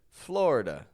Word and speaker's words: Florida: I'm not saying Florida or florid but rather Florida older Generations will say it like Florida Florida and that's totally fine but the fact